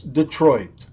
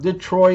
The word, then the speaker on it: Detroit: t is silent and it's Detroit not detroy it not Detro Detro the treat Detroit I didn't quite get